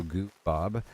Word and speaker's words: Goob: It's pronounced goo as in goo baby, and then Bob as in the name, so Goo Bob.